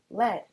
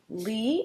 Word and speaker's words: lead: First one up, lead or led. This word can be both lead with a hard e sound or led with a soft e sound.